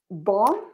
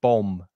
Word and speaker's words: bomb: read these two words, bomb and bombardment. Yeah, bomb. This is for you. The second B is silent, so you don't hear the second B. It's bomb.